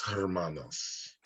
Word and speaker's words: hermana: Las hermanas. Uh-huh. And the H here is silent, so it's really going to sound like hermana.